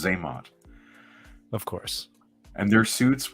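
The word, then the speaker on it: Xamot: It's pronounced Zaymot.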